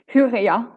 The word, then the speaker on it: Hyria: from Finland, and well, I've always called it Hyria Foundation, but now I discovered that it's actually pronounced Huria Foundation or something similar. Mary, maybe you can help me? Hyria.